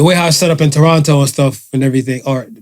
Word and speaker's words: Toronto: right right the way i set up in toronto and stuff and everything or people always yell at me people from here when i say toronto torana yeah apparently you guys don't pronounce it that's